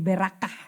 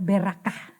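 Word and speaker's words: ברכה: yaitu hei gitu ya Sehingga bacanya jadi berak kah sebetulnya berkat itu bahasa ibraninya adalah berak kah oke nah apa sih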